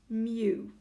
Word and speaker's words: mu: is actually given by this symbol which is pronounced mu all the normal distributions will have a mean